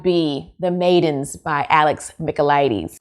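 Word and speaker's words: Michaelides: the maidens by alex micheladies i know how to say his name now go back and watch my videos about the silent patient i was calling him michaelites or something like that anyway but yes so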